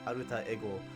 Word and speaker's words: alter ego: wondering why I say alter ego, how I pronounce it, it's because how the Japanese pronounce it. Like, it's literally pronounced aruta ego in Japan, so I just go with the Japanese pronunciation.